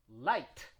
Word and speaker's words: light: end of a word just pronounce the t not the h not the g just the t right like when you say light and the opposite at